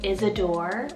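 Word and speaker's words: Isidore: or one for girl i have the name isadore or isadora spell i s i d o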